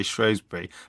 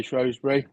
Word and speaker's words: Shrewsbury: Shbury or Shosby. That pronunciation is a big deal, isn't it? In that part of the world, it is. Yeah. So, my family all say Shrosbury. I say Shrosby if I'm talking to the lady that lives down the road.